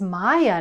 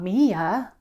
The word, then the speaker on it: Maya: "No, her name is Maya, not Mia."